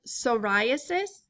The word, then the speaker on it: psoriasis: pediculosis next we have psoriasis the P is silent and it's a very tricky spelling so be careful psoriasis is where you get